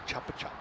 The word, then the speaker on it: Chupa Chups: That's weird that you call it that, a Chupa Chup. In Australia, we call it a Chuppa Chup. A Chuppa Chup. Yeah, but I mean, it's a regional pronunciation.